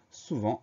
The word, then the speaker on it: souvent: Première syllabe sous, S-O-U, pas de problème. Deuxième syllabe vent, V-E-N-T. Ça veut dire que le son s'écrit E-N et ça veut dire aussi qu'il y a une lettre muette, un T qu'on n'entend pas à la fin.